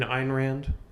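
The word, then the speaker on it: Ayn Rand: Oh, you mean Einrand? Yeah. Sorry, I mispronounced that, but you know what I'm talking about.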